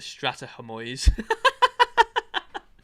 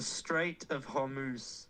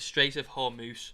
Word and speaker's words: Strait of Hormuz: I'd put it in I called it the Strata Hormuz. I had no idea how to say it. Go on, say it again for me, Wes. The Strait of Hormuz.